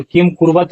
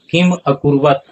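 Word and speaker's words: किमकुर्वत: जोड़ च जोड़े और किम कुर्वत नहीं होगा उच्चारण क्या होगा किम अकुर्वत संजय और इसके लिए देखिए हम आप लोगों को संधि विच्छेद भी दिए हैं।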